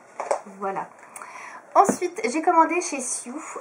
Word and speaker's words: Sioou: Ensuite, j'ai commandé chez Sue. Alors, chez Sue, je vous rappelle, ça s'écrit comme ceci.